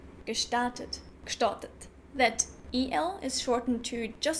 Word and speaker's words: gestartet: Some minor things that I noticed are, for example, that GE is sometimes pronounced as K, gestartet.